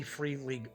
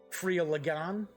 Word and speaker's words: Free League: You can get the box set for an MSRP of $45.80 from the Free League Publishing website, or Freeligan, I believe is how it's pronounced. It is a Swedish company.